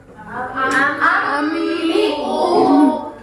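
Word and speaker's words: أَنْبِئْهُمْ: Iklab itu kalau biar gampang ya, iklab itu dia mengganti nun dengan mim. Jadi dibacanya ambiuhum. Nunnya kayak hilang kan, kayak diganti jadi mim ya.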